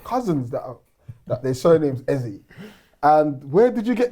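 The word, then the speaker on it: Eze: Like, I got cousins that that their surname's Ezie. And where did you get this Ezra?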